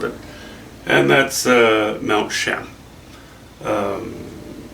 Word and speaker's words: Cheam: larger canvas with it and that's uh Mount sham um it's near Chilliwack British Columbia Canada it is spelled c-h-e-a-m uh there are many views many